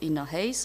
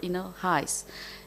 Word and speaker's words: InnoHEIs: a little word about this pronunciation of inner Haze or inner highs in a Polish slang height means money so I wish a